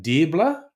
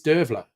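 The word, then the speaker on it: Deirbhile: Okay, what's that? Dirbler? Oh, you. Okay, it's Dervler. Dervler, not Dirbler.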